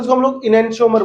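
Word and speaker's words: enantiomer: और अंग्रेजी में क्या बोलते हैं इसको हम लोग, इनेंशियोमर बोलते हैं अंग्रेजी में।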